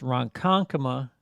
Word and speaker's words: Ronkonkoma: from roncon coma uh which is pronounced ronkonkoma in case people think